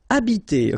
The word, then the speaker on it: habiter: Okay, remember that in French, the H, like that here, is not pronounced at all. Okay, so you don't pronounce it, so you get the first sound is the vowel A here. So habiter. Habiter.